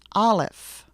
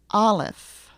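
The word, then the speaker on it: Aleph: name of the letter the letter is alive repeat after me olif olif you should be speaking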